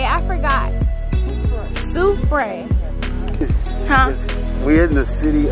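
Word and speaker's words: Soufrière: Soufriere.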